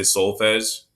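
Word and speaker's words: solfège: see at the top i kind of put the sounded out version of it so soul s-o-u-l-s-o-u-l and then dot fez like a j at the end soul fest is how you say it all right everyone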